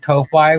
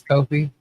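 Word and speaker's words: Ko-fi: Calling it Kofi when it's Kofi. That's all good. Everyone pronounces it wrong, I'm sure.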